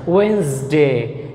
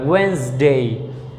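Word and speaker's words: Wednesday: ওয়েন্সডে, এখানে ডি উচ্চারণ হবে না, ওয়েন্সডে।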